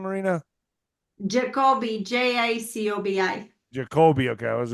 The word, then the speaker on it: Jacobi: Jacobi, J-A-C-O-B-I.